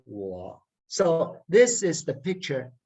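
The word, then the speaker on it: 我: see to it that this character its tone is low very low it's third tone so when you pronounce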